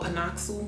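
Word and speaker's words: PanOxyl: for me personally i use this brand called pinocchio because i used to spell it like p-a-n-o-x-y-l i use pinocchio i also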